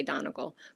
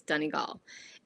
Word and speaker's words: Donegal: Americans say Donegal, but if you want to say it correctly, it's Donegal.